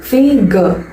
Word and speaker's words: figure: லாஸ்டா வர அந்த ஆர் சைலண்ட். ஓகேவா, எப்படி ப்ரொனவுன்ஸ் பண்ணணும்? Figure, figure.